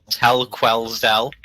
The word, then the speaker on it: Tell Quellsdell: you pronounce your name so it's actually a really easy name to pronounce it's just tell quellsdell okay and right now